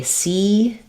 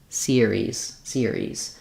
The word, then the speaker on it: series: So I'm not really saying, like, for example, if I say series, that doesn't sound right.